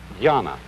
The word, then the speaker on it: dhyana: And this in turn is the Chinese way of pronouncing an Indian Sanskrit word, dhyana.